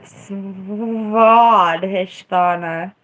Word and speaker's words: Svadhisthana: So Svadhisthana or Swadhisthana, whatever makes you happy.